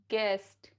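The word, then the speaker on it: guest: एट the beginning of a word जैसे guava गेस्ट गेस guitar guild गिल्ट rule number two यू is silent after a ji when it is before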